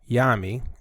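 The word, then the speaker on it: Nyame: god yami or well onyami or yami the n is silent is the greatest of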